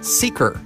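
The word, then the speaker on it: Seekr: The Seeker app. That's spelled S-E-E-K-R. You can get that for Apple or Android. App Store, Google Play. Seeker, S-E-E-K-R.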